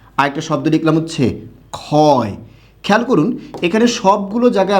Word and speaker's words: ক্ষয়: আবার এখানে ক্ষতি, এখানে পরবর্তী বর্ণে রস্বইকার থাকার কারণে খ হবে, ঠিক আছে, কিন্তু ক্ষয়ে ওকার হবে।